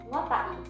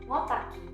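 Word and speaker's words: ngota'i: Tanda koma atas dipakai supaya jelas bahwa kata ngotai diucapkan seperti ngotai bukan ngotaki.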